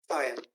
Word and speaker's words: Fian: It's spelled F-I-A-I-N, but what you want to sound it out would be F-I-E-I-N. Fian, has he been taking care of himself?